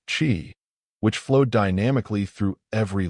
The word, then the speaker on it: qi: It was about energy, the invisible yet vital life force known as qi, pronounced qi, which flowed dynamically through every living being.